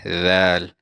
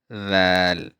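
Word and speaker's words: ذال: So your tongue should be between your teeth, and you should say dhal, dhal.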